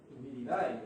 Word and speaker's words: viride: Sin embargo, existen ciertas características, ciertas especies como Tricoderma viride, viridae o viride, que es como se pronuncia, tienen la característica de